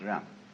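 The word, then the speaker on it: 仁: In Confucius philosophy, the fundamental virtue of a human being is called Ren, spelled Jen for reasons best known to Chinese scholars. I don't know what they are, but it's pronounced Ren.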